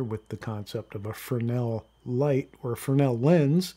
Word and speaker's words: Fresnel: You'll hear people pronounce the S, say Fresnel. That's really not the right pronunciation. The name Fresnel is named after a man whose name was Fresnel, and he invented the